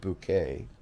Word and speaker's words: Bucket: up appearances highest and bucket pronounced bouquet lives to impress and